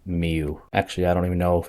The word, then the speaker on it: Mieux: the third one is mew which means better in french i believe i think it's pronounced miu actually i don't even